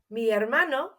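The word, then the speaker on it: hermano: have noticed there that in Spanish we don't pronounce our H's so it's written but we don't say it let's try it again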